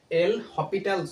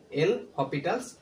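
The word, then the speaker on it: L'Hôpital: এটা আসলে হাসপাতাল রুল হবে না এটার সঠিক প্রোনাউন্সিয়েশন হবে হচ্ছে এল হসপিটাল রুল ঠিক আছে এল হপিটালস রুল তো এই রুলটা কখন প্রযোজ্য হবে যখন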